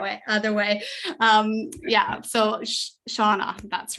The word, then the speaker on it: Shana: I think I'll imagine it spelled Shawana, even though I know it's spelled that way. Other way. Yeah. So Shana.